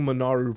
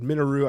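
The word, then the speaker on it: Minoru: you have Nico monaru I'm committed to saying monaru properly I've said minu I've said everything else it's monaru damn it I've been called out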